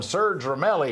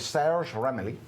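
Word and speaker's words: Serge Ramelli: We call him Serge Romeli here in the United States, but he's Sarah Ramli.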